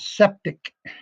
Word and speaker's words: Sceptik: The game is called Septic. Septic? And Septic. Like septic tank? Yeah, what is it? Yeah, kind of like that, but it's spelled SCEPTIK.